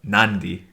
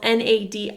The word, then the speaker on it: Nadi: which is yeah so the city that we flew into is spelled na di and we were calling it Nadi and everyone's like what are you talking about ivy and then one of